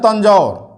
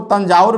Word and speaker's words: तंजौर: इसी में तंजौर, एक और प्रोनाउंसिएशन उच्चारण में इसको तंजाउर भी बोल देते हैं हम लोग, किसी किसी किताब में लिखा हुआ है तंजाउर। तो इसे आप समझिएगा तंजौर ही है, तंजौर या तंजाउर ओ।